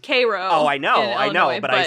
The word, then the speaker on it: Cairo: It's pronounced Cairo.